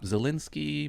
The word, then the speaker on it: Zelensky: Zelensky, Monica Lewinsky.